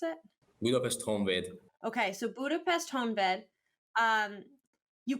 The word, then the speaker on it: Honvéd: How do you pronounce it? Budapest Honvéd.